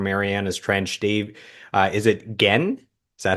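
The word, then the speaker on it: Genn: You have Joey Moy, Brian House, Josh Ramsey from Mariana's Trench, Dave, is it Gen? Is that how you pronounce last Dave name? Gann, Dave yeah.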